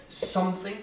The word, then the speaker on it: something: Something, c'est la première syllabe qui est accentuée, something, donc ça fait vraiment something ou anything, anything, c'est bien un th qui est non collé, something, anything.